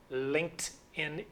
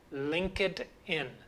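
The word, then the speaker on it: LinkedIn: the application linked in linked in is the correct pronunciation in fact linked sounds like t in the past but you will hear many people saying link it in but for sure because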